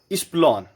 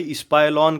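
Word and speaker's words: epsilon: को कहा जाता है, इसका जो प्रोनाउंसिएशन है वो है इप्सिलॉन। कोई इस्पाइलॉन कहता है, कोई इप्सिलॉन कहता है। जिसका टीचर जैसे प्रोनाउंस करता है वैसे स्टूडेंट प्रोनाउंस करते हैं। मैं उसे इस्प्लॉन कहता हूं अकॉर्डिंग टू स्पेलिंग, इस्प्लॉन।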